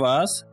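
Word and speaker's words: vase: फूल गुलदस्ता को इंग्लिश में फ्लावर वेस कहते हैं। फूल गुलदस्ता से मुराद जिसमें हम फूल रखते हैं, ठीक है। इसे फ्लावर वास और फ्लावर वेस दोनों तरीक़ों से प्रोनाउंस कर सकते हैं, ठीक है।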